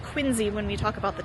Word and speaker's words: Quincy: right that's what they said so thank you quiny Massachusetts for all that and you will notice that it is the Quincy family but it is pronounced quiny when we talk about the town I don't